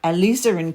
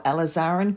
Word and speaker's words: alizarin: and these colours are alizarin crimson or alizarin crimson. Both pronunciations, I believe, are correct.